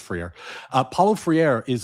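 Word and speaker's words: Freire: I I I always get his name wrong, but I think it's Friier. It might be Frieri, but I think it's Friier.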